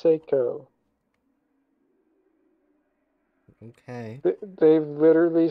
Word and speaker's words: Psycho: So far, Bray is pronounced Seiko. Bray is pronounced Seiko.